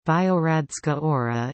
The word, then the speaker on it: Biogradska Gora: Biogradska Gora, pronounced Biogradska Ora, is a forest and a national park in Montenegro within Kolasin municipality.